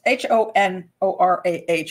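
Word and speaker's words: Honorah: but anura or honora it's h-o-n-o-r-a-h I'm not quite sure how to pronounce it but I say honora but her short name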